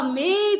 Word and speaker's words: मे: भी बोलते हैं लोग इसका उच्चारण भी आप देखें कि ये एक मात्रा है में बनता है ये मैं नहीं है इसलिए मे पसी यंतु सी दीर्घ है तो सारे तीर्थंकर ये